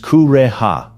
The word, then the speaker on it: Kureha: Seaguar, pronounced Seaguar, belongs to Kureha, pronounced Kureha, in Japan.